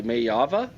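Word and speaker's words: Maiava: So, at quarterback, uh Jaden, and you help me with the pronunciation here, Maya Mayava.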